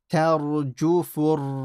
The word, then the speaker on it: تَرْجُفُ: The ra here is heavy because before it is a fatha. So don't say tarju, tar. Make it slightly full. Tarjufur rajifah.